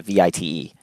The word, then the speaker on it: Vite: The pronunciation is French. It's a VITE. Vite as in fast. Oh yes, right. Got it. Yeah. Well, it looks like Vite. So, but yeah, it's pronounced Vite.